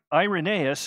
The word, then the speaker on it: Irenaeus: a great book called against heresies and ire irenaeus excuse me that's how you should pronounce it irenaeus would go on to disciple